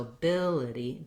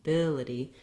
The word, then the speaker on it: ability: is in this word the next letter i in ability is also um the same if vowel as in the bill syllable but it's going to be short in duration and somewhat reduced so ability ability here's where i'm long and here's where i'm short then you may have